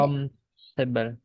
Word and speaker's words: uncomfortable: Uncomfortable. Yes, Un- uncomfortable. Uncomfortable. Uncomfortable. For itu tidak bunyi ya. Bukan uncomfortable, but uncomfortable.